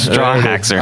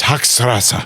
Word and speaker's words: Hochstrasser: Straw haxer. I don't feel bad now. Straw haxer. I'm trying so hard to say it right. Hang on. It's Hochstrasser.